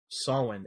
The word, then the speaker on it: Samhain: I think some people can pronounce it Samhain. I'm not sure, but I think the proper Gaelic pronunciation is Samhain, and that's like a Gaelic festival marking the end of harvest.